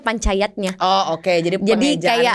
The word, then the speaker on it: Panca Yadnya: itu kan Jack ya Tapi bacanya Panca Yadnya gitu kedengarannya kayak DD tapi J sebenarnya jadi kayak Pak J nya itu digantung gitu digantung Panca Yadnya artinya ini